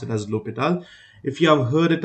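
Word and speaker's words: L'Hôpital: cases this term here L opal right it's pronounced as lital or l hospital because it was written as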